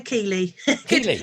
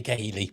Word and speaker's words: Kehily: right care uh nearly it's keeley hello i'm just looking at your name and thinking i must be geheny but yeah it's a common one yeah it's silent it's silent h yeah all right oh